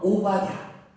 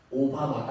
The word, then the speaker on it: 오바댜: 오바댜. 오바마가 아닙니다. 우리 사무실에 얘기했더니 오바마로 알았다. 세상 속의 리더십 오바마. 오늘 못하고 쓰겠는데 오바댜예요. 자, 그렇다면 왜 엘리야보다 우리는 이 오바댜를 더 주목해야 할까요?